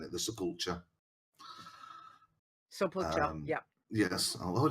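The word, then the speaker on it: Sepulcher: I don't know how you guys pronounce it. It's my way of saying it. The sepulture.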